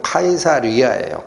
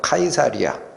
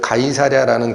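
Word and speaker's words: Caesarea: 우리 개역한글, 우리 한글 성경엔 가이사랴라고 되어 있지만 영어적 발음은 카이사리아예요. 카이사리아. 그래서 바로 그 황제의 이름을 붙이도록 허가하는 도시에는 그 가이사랴라는 그 도시에는 반드시 뭐가 있어야 되느냐?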